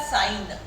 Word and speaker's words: sign: एन जैसे अपन ने कहा साइन, साइन करो, SIGN, ग कहाँ सुनाई पड़ा? नहीं सुनाई पड़ा, है ना? जी साइलेंट हो जाएगा।